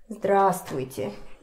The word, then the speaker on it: здравствуйте: Здравствуйте. So, divide it in parts. Say те. Те. Те. Then a longer part. Вуйте. Вуйте. Вуйте. Maybe here. Здравствуйте. Don't forget that we don't pronounce it.